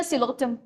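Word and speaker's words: Psilotum: Same तो spelling है, सिलोप्सीडा सिलोटम, P silent है, सेम सेम तो स्पेलिंग है यार।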